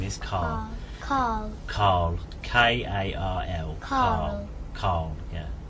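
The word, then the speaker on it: Karl: No, Carl. His name is Carl. Carl. K-A-R-L. Carl. Carl. Yeah. Carl. Carl. Yeah. Carl. It seems like without an R.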